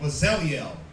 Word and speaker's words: Bezalel: Pronounce it. Where we at? Bezalel. Verse 2, Exodus chapter 31 verse 2. Bezalel. Right, Bezalel.